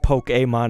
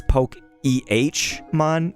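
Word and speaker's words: Pokémon: one of them said it's not poke aon, it's poke ehmon instead of like I was spelling it phonetically as poke a a y. They're like, "No, it's more like poke ammon eh."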